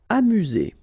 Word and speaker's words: amuser: Amuser. U, remember, U.